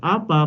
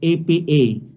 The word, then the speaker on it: APA: writing styles and formats this is not pronounced as appa but it's apa now before going to